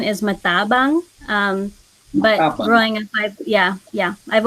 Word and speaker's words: Matabang: And Matabang? Matabang? How do I pronounce it? So the supposed correct pronunciation is Matabang, but Matabang.